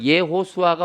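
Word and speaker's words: יהושע: 자, 예호수아가 원 발음인데 예호수아 네 자잖아요.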